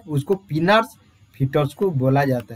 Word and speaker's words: Pinard: जो हम क्या मैनुअली जो करते हैं उसको पिनार्स फिटोस्कोप बोला जाता है। पिनार और पाइनार, जो जैसा प्रोनाउंसिएशन आप लोग कर रहे हैं, पाइनार, PINARD बोलते हैं, क्या बोलते हैं डियर, PINARD बोलते हैं, पाइनार और पिनार फिटोस्कोप बोला जाता